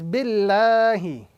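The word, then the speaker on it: بِاللَّهِ: So the correct pronunciation in this particular combination or this formation is billahi. Again, the word Allah with a flat sound, billahi, as opposed to billahi. This is the wrong pronunciation.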